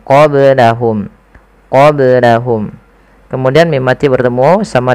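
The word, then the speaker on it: قبلهم: Kemudian qablahum ada ba sukun maka dibaca dengan qalqalah. Kesalahan yang terjadi adalah tidak memantulkannya. Contoh qablahum, tapi dia harus dipantulkan qablahum.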